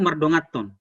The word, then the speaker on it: mardonganhon: Saudara-saudara, karena saya dibesarkan, dilahirkan dan dibesarkan di keluarga Batak Toba, kata mardongaton ya, menulisnya mardonganhon, tapi bacanya itu mardongaton.